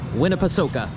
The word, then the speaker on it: Winnepesaukah: And I asked that is the correct pronunciation. Winnipeoka.